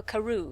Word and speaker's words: Crewe: difference in the name madame pascal pronounced it as if it were karoo instead of crew but that might be